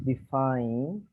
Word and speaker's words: define: say the thing is define lupita define define yeah the this letter this vowel i is pronounced like the power define define be fine be fine different like fine fine